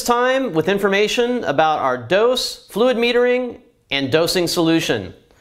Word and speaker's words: DŌS: needs first of all uh the product is pronounced dose I know it's kind of funny looking it